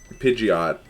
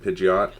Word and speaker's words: Pidgeot: how do people pronounce Pidgeot because to me it's always just been idiot but with a p scula yeah yeah same